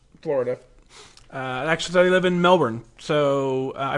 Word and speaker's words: Melbourne: Actually, they live in Melbourne, so I pronounced that one right.